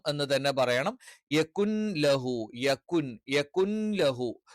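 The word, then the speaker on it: يكن: ലം എന്ന് തന്നെ പറയണം യകുൻ ലഹു യകുൻ യകുൻ ലഹു അപ്പൊ ഇവിടെ നൂന് വ്യക്തമായി പറയാൻ പാടില്ല എന്നാലും അവിടെ നൂൻ ഉണ്ട് എന്നുള്ള ഒരു സൂചന ലഭിക്കണം കുഫുവൻ അഹദ് ഇത്തരത്തിൽ വളരെ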